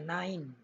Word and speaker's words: nein: Tulisan sebenarnya kata tidak itu nine, seperti ini, nine. Tulisannya nein, bacanya nine.